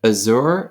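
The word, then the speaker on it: עזר: Is it Azur? Is that how you say it? How do you say it? Azer.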